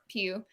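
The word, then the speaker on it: Pugh: she pronounces it paul i think it's pronounced pew like hue hey maybe maybe it's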